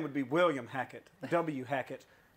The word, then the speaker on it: Hackett: W. Hackett. Pronounced Whackett. Whackett. Can you whack it?